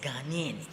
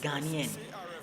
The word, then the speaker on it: Ghanaian: It says, "Stop xenophobic attack against Ghanian." against Ghanaian.